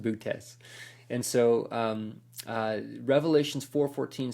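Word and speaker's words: Boötes: Bootes, it looks like booties, but it's not booties. It's pronounced bootes.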